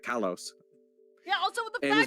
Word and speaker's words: Kalos: Well, I feel like Legend ZA really narrowed in on Kalos. Why did I say it like that? Kalos.